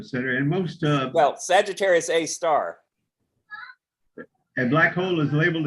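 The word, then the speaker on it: Sagittarius A*: and most uh well sagittarius a star a black hole is labeled as a star a star it's an asterisk so you pronounce it a star oh really i thought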